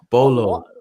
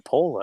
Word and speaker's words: Paulo: So him and Junior Paulo, or Paul. Everyone's calling him Paulo or something else. What the heck is that? Bolo. No, it's Junior Paulo. It's Paulo with an O.